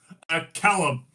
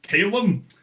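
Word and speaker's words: Calum: My actual name, Callum. C A L U M. Although uh even the interesting history. I mean uh I know other people who pronounce it as Caleb.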